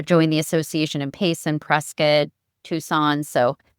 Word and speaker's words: Prescott: Shawntel was just telling me before that it's Prescott, not Prescott. So, Yeah, so there's a debate, but uh, the people from there definitely call it Prescott.